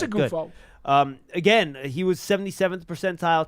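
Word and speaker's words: Oghoufo: Ovi Ogufo, I believe that's the yes, it is. pronunciation. I just checked on it. It is Ogufo.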